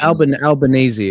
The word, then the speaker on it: Albanese: How do you pronounce? Is it Albanese or Albanese? This is what. Albanese.